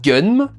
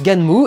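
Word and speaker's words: Gunnm: Pendant des années, j'ai dit Gun. Apparemment, le son Gun, ça n'existerait pas chez eux, donc ils font Gan et Mu et pour le NM. Donc ça se prononce Ganmu et le titre international c'est Alita Battle Angel.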